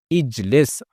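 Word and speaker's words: اجلس: Since it has kasrah below the middle radical, hamza al-wasl will be pronounced with a kasrah, and it becomes ijlis, meaning sit.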